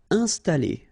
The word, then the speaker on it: installer: Installer. First the nasal, in, installer, installer.